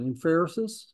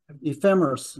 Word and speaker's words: ephemeris: right the in in I can't even pronounce it inferis is it ephemeris that's it uh for that but